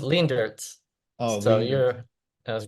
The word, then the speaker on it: Leendertse: name nice okay good it's pretty good it's lean dirs oh so you're that